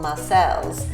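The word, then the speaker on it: Marseilles: I know in Illinois there's a place called Marcel's And it's spelled Marseille, it's in Marseille, France. So it's been sort of changed over the years.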